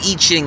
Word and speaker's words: I Ching: is as common as the yellow pages the eaching is that the ancient five thousand-year-old Chinese book the Oracle write it you spell it I I Ching but it's pronounced eaching it's kind of interesting topic interesting book to